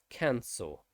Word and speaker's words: cancel: going to use but cancel you'll use all the time and it is an ah sound cancel um the next one